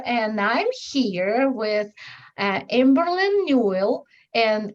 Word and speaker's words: Newell: I'm a spiritual self-awareness mentor, and I'm here with Amberlynn Newell, and it's pronounced like a jewel, and she's really a jewel because you will see how sweet she is and special and everything else.